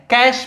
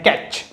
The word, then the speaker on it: cache: अब एक और मेमोरी हमने यहां पे देखा है, कैश मेमोरी। एक्चुअली में यहां पे लिखा गया है, राइट किया गया है कैच, बट इसका प्रोनाउंसिएशन क्या होता है, कैश होता है।